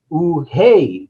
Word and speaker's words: Unhei: no unhe corrected her it's spelled u-n-h-e-i it's pronounced ooh hey the boy said like hey you hey what